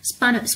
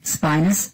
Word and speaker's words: spinous: and downward we say it's actually cold the spawn ups process so please read this one spinous process actually spinous process sorry I just pronouncing it wrong way but whatever it's called